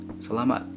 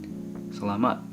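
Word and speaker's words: salamat: speaking with me and so the way to say that is Salama Salama and if you're speaking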